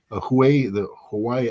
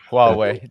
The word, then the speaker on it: Huawei: Hawaii, I can't pronounce that word. Daddy, help me out here. Huawei, just Huawei.